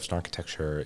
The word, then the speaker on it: Snarkitecture: Well, first and foremost, Snarkitecture rhymes with architecture, which is why we chose it. Yeah. But the word snark and that part of Snarkitecture is based on a Lewis Carroll poem called The Hunting of the Snark.